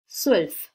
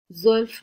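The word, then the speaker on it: zwölf: এটা অনেকে জয়ের উচ্চারণ করে, এটা সঠিক না, জ উচ্চারণ হবে না, এরকম একটা উচ্চারণ হবে, সুয়েলফ, জোয়েলফ না, সুয়েলফ।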